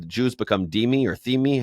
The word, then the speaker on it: Dhimmi: The Jews become Dhimmi or Thimi. How do you say it? Dhimmi. Okay, Dhimmi. But there's an H after the right. There's okay, Dhimmi.